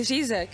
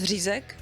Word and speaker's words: řízek: okay I was gonna ask him to say zizak you know can you pronounce rizac yeah yeah okay you're very close that's good